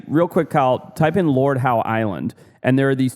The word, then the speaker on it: Lord Howe: Lord Howe. But I always say Howie because of how it's spelled.